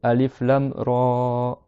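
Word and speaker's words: الر: Donc tu dis ta, que 2 temps. Tu dis alif lam ra, alif lam ra.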